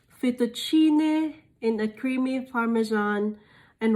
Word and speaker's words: fettuccine: um correctly but uh fettuccine guys so it's like the you put emphasis on the double t and then the double c is like chair like uh so fettuccine in a creamy parmesan